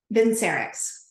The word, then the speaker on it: Vincerx: as well and by the way is it vincx how do you pronounce vinx Pharma Vin serx VIN serx okay so before we dive in